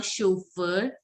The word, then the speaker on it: chauffeur: AU is pronounced as O. So you have to say chauffeur and Yun chauffeurs.